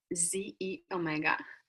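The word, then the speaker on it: xEO Mega: to the last in industry yolk it's called ze Omega and now it looks a little different but that's how you pronounce that so with a proprietary blend of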